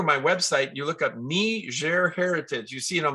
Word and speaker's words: Niger: different languages so that's their lingua franka and ner is how we pronounce it some people might pronounce it Niger it's north of Nigeria sometimes people confuse it with Nigeria I've heard